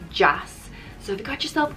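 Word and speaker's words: deas: jass is jazz is irish for nice it's pronounced jazz so if you got yourself colleen just um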